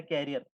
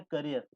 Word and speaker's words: career: Cycle के पीछे होते हैं ना जो बैठ के जाते हैं, या फिर कहीं कुछ लगा के लाते हो, वो होता है कैरियर। ये होता है करियर।